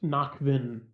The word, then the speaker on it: Nakvin: it's knock isn't like knock on wood, and then VIN is like vehicle identification number.